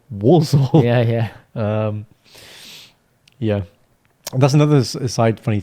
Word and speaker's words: Walsall: no, this is Walsall, Yeah. not Poland. Yeah. Not Balsall, Walsall.